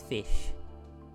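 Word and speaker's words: Ghoti: to be seen but this is supposed to be pronounced as fish I don't know where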